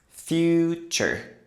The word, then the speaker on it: future: In American English, the ending often sounds like chur. That little vowel sound is a schwa. Uh. But because this is American English, we also pronounce the r after it.